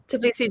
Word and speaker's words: Tbilisi: Tbilisi, right? Is that how you say it? Tbilisi, Georgia, yeah.